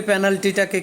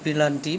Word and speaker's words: পেনাল্টি: তো খেলা চলাকালীন সময়ে এটার ব্যবহার আমরা মূলত পেনাল্টিটাকে কেউ পেনাল্টি প্লান্টি বহু ভাবে মানে না বুঝে অনেকে অর্থ না জেনে এটাকে উচ্চারণ করে থাকে এটা মূলত সঠিক উচ্চারণটা হবে